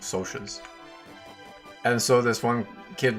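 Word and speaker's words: Socs: in the book like they spell it S O C S S. So like socks, but then immediately after in brackets it says pronounced SOAS.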